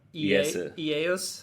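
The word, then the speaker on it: イエス: Ieus.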